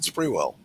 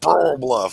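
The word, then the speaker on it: Sprewell Bluff: Squirrel Bluff is spelled Sprewell. So I always said Sprewell. The locals wanted to stone me to death because I wasn't saying it right. It's Squirrel Bluff. I'm like, no, it's not. It's Sprewell. I'm wrong. They're right.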